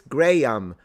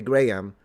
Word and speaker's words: Graham: And what we figured out is that people, it's a regional version. Like, depending on where you're from, you will pronounce it one way or the other.